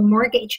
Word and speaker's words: mortgage: 证，叫做 mortgage。注意这里的 t 不发音。